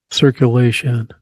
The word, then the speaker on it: circulation: Circulation. Okay. It is third syllable.